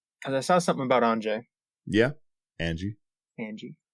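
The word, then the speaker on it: Anje: Because I saw something about Anjay. Yeah, Angie. I've seen so many people call it Anya. No. Yeah, it's Anya. There's a J in there, bud.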